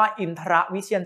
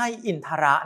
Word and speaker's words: อินทรวิเชียร: ว่า ฉัน ชนิด นี้ อ่าน ว่า อินทรวิเชียร ฉันท์ 11 ไม่ ใช่ อินทระ นะ ครับ ต้อง ออก เสียง กลาง ด้วย นะ ใน มงคลสูตร คำ